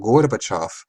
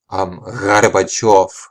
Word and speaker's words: Gorbachev: of the politician who in English we call Gorbachev, but he actually pronounces his name with a r sound. So he said Gorbachev, so it's a r, and that's how he pronounced it.